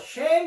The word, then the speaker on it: Shem: Shem means name so the shame is the pronunciation of the Hebrew and then Shem means